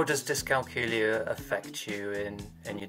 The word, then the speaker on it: dyscalculia: found out I had dyscalculia which is pronounced to rhyme with Julia um when I was